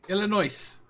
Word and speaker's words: Illinois: a contradiction fun fact about illinois you don't pronounce the ass god damn it yeah illinois oh okay come across the goddamn atlanta could